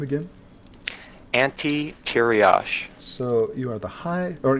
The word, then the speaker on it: Ante Tiriosh: And how do you pronounce the guild's name again? Ante Tiriosh.